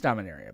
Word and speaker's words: Dominaria: It's like because I've heard Dominaria and Dominaria. Right. It's Dominaria, by the way.